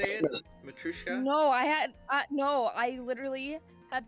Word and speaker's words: Matryoshka: I think you got it right. It's like Matryoshka. Matryoshka.